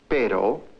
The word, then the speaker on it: pero: The differences in the Spanish sound ere as in pero and the R as in perro are important because they result in a change of meaning.